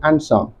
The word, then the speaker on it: answer: is in the word answer in that word the letter D is silent well that will be